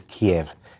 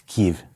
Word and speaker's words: Kyiv: The Russian is Kiev. It's Kyiv. Kyiv.